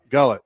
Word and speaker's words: Gullett: school history anywhere, Don Gillett, I think is how you say that. He won the World Series 4 years in a row with the Reds and Yankees. Gillett or Gullett? Gullett. Okay. Gullett.